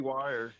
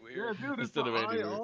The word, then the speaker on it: Weir: It was some crazy Andy Wire. Wire. Yeah. Yeah. Yeah. Instead of Andy Weir, it should be Wire. Yeah. If if English was phonetic, you'd be correct. Yeah, that's true.